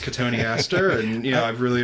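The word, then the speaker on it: Cotoneaster: Cotton Easter. Yeah. Yeah. Now I know it's pronounced katoni aster.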